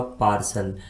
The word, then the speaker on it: partial: इस स्पेलिंग में हम टी को सा के रूप में पढ़ते हैं क्योंकि टी के बाद में IA आता है।